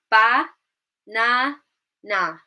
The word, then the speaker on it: banana: We've got ba, na, na. Ba, na, na. There are 3 syllables. I'm now going to say it more naturally, how an English speaker would actually say this word.